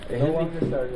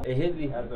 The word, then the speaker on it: Ahidley: Ahidley. Huh? Ahidley. How do you spell that?